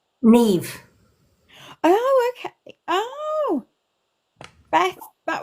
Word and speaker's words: Niamh: And how do you say Lady M? Niamh. Neve.